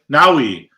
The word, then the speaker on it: Naui: Okay, Naui. Naui like Maui, but with an N.